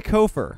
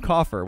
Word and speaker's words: kofer: with decisions in game he goes by kofer which I actually discovered during these games today that's how you say it I always used to call him Coffer which is why for the first few games I was butchering his name either way we had